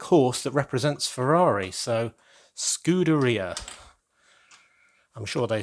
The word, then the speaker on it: scuderia: I mangled last time, should be pronounced like pizzeria, so it's scuderia, and that means stable, which is very appropriate when you think of the black horse that represents Ferrari. So scuderia.